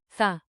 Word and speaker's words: θα: The future marker. Θα. Soft, th, like in, think.